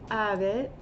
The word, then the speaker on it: habet: Eris habet, and H's are very soft if pronounced at all, and UM's, or any